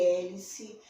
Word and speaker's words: hélice: H mais E faz E de hélice, E de Helena, se escreve com H maiúsculo Helena.